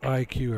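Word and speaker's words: IQUE: And IQ is spelled I-Q-U-E.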